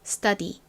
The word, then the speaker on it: study: 의미의 스터디는 이렇게 씁니다 제가 앞에서 설명드렸던 것처럼이 t는 원래 티귿 소리가 나지만 s의 뒤 에 오는 경우에는 좀 센 발음이 난다고 말씀드렸죠 그래서 거의 쌍디귿에 가깝게 스터디가 아니라 study study 이렇게 센 발음이 난다라고 말씀드렸던 것도 꼭 기억해주세요 자